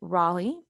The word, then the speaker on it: Raleigh: say this to you this word right here actually raleigh this was somebody's name